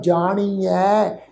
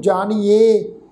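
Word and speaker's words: ਜਾਣੀਐ: नानक ए वै जाणीऐ, ये पाठ है जी, ए वै जाणीऐ, ऐड़े अखर के उपर दुलावां दा पाठ है, जाणीऐ, इनू जाणीए ये नहीं बनाना, ये पाठ की प्रनाउंसिंग आ जाणीऐ, जाणीऐ सब आपे सचियार।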